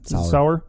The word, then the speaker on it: Sauer: It's a charity seminar at, how do you say Pedro's last name? Sauer. Yeah.